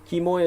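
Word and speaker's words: Quemoy: this unless you look up kimoy and matsu kimoy is spelled q-u-e-m-o-y because kinman today was formerly called kimoy in english and today it's a popular tourist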